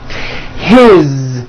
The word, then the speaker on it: his: His, same thing. It also has a voiced Z ending.